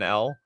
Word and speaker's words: El: what so oh eel pronounced like the L that one might take take Taking an L House of L uh